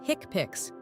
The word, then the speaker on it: HCPCS: HCPCs pronounced hickpicks stands for healthcare common procedure coding system.